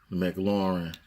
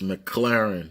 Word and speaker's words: McLaren: in real life yeah Maclaurin and of course McLaren segment Lauren your son its McLaren that's how it's pronounced McLaren of course branched